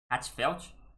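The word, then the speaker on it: HA:TFELT: Hatfelt é o amálgama da pronúncia das palavras hot e Hartfelt.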